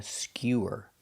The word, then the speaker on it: skewer: This is a skewer. Making the y-yu sound. Skew. Skewer. Skewer is countable.